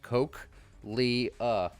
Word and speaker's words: cochlea: And there's the cochlea of the cat. Everyone's like, you should understand how to pronounce it because it's pronounced Coke, Lee, and Lee loves Coke, so.